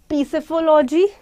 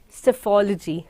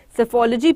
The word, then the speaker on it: psephology: Now, you will not say the word as peaceology. You will not say as something other. The word here is called psephology. The word here is called psephology. P here is silent.